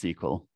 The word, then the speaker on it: SQL: it's written always written as sql but it's pronounced sql it's a structured query language and it's actually